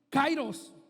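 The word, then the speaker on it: κύριος: ya como señor la la palabra correcta en el original es kairós o se escribe kyrios por así decirlo dice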